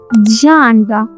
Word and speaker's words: genre: This word comes from French, so the G makes a special sound.